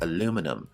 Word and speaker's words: aluminum: In American pronunciation, this word is called aluminum, and in British English, it is aluminium.